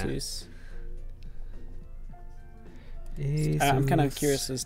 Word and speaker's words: Asus: I'm curious as to who is, I mean, Chris is using an Asus as well, and an Asus, is that how you say it's it? It's Asus, yeah. Asus.